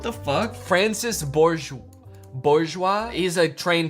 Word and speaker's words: Francis: I think maybe out of all of the ways I could have pronounced that was maybe like the worst. No, wait, why did I say Francois? His name's Francis. What the fuck?